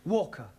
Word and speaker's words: Walker: driver at Mrs vka Walker what w is pronounced W your employer's name is Walker yeah vka do you